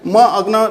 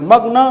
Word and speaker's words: मग्न: मग्न उच्चारण गर्दाखेरि त्यसरी आउँछ नि त, मग्न म अनि आधा ग र न त त्यसरी उच्चारण हुँदैन हैन। म अग्न त त्यस्तो त हुँदैन नि त, मग्न हुन्छ।